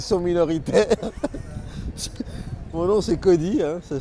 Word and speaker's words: Kody: Alors, pour ceux qui ne me connaissent pas, et Dieu sait s'ils sont minoritaires, mon nom c'est Cody, hein, ça s'écrit K-O-D-Y.